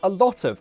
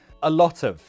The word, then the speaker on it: a lot of: Next is a lot of. I thought this would be the most common, but I guess not. Pronunciation. Again, we have options. A lot of. A lot of. Glottal T, a lotta.